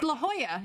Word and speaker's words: La Jolla: It's La Jolla, isn't it, Sharon? La Jolla? PD. No.